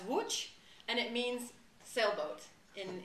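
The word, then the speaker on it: Łódź: top and ellos easy is pronounced in polish as watch and it means sailboat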